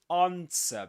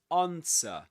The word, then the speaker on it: answer: You don't pronounce the W the W. Okay? Just like in sword. Just like in sword, as we discussed before, you don't say swore. sword but sword. This is answer.